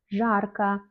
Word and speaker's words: жарко: Quand on dit холодно, il fait froid, жарко, il fait chaud. On écrit O à la fin, mais on prononce A. Pourquoi? Mais parce que tout simplement, O n'est pas accentué dans ces mots.